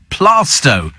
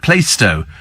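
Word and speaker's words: Plaistow: pronouncing bug bear is plasto every travel reporter apart from Joanne obviously pronounces it PLO it's plasto says Kevin the milman how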